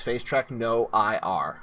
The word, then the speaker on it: FaceTrackNoIR: face track no ir and yes that is face track no ir which no infrared there has been some debate about how it's pronounced if it's face trap face track nor